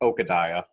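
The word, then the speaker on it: Okadiah: Is it Okadai? I wrote it down. I can't pronounce it. Okadai. Alex, listen to the audiobook. Yes, I do. It's Okadai. Okay, yeah.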